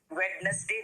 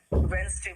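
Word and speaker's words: Wednesday: वेडनेसडे नहीं बोलते, याद रखना बेटा, वेडनेसडे बोलते हैं, ठीक है।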